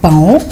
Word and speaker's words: paon: Donc, les téléspectateurs peuvent corriger, surtout les enfants qui disent souvent paon, parce que ça s'écrit paon, mais ça se lit pan. Eh oui, vous avez certainement corrigé avec Ruth Dinanzé. Pan, c'est l'orthographe. Pan, c'est la prononciation.